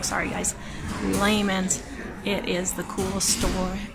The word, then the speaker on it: Lehman's: I'm always pronouncing it wrong, sorry guys. Lehman's.